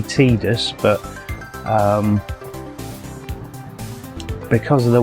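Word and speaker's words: Tidus: main character um now he's normally called tus or Titus depending on your pronunciation I think it's supposed to be tedious but um because of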